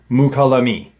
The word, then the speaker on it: Mukalami: And one is my pronunciation of the name, the area. Mukalami is the area where that occurred, or